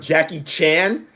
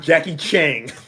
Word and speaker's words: Jackie Chan: up your pronunciation of jackie chan and not jackie chang did i say chang you've added a g at the end of his name every time you've been